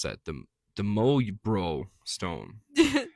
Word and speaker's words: Möjbro: The The Möyjbro stone. It's Just spell it out. I will. m o j b r o Möjbro stone. Well, the j's are wise. Möjbro stone.